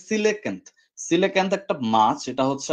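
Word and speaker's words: coelacanth: এটার সিলেকান্ত বলা হয় এটার উচ্চারণটা আমি ভুলে গেছিলাম সরি এটার উচ্চারণটা হচ্ছে সিলেকান্ত সিলেকান্ত একটা মাছ এটা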